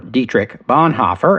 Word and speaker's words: Dietrich Bonhoeffer: Dietrich Bonhoeffer, or Dietrich Bonhoeffer as most Americans would pronounce it, was born on February 4th, 1906 in what was then Breslau in Germany.